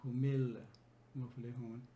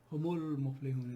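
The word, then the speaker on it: هم المفلحون: It's better for the flow, and it makes more sense rather than saying humil muflihun. Humul muflihun is much more fluent and smooth way of pronouncing this.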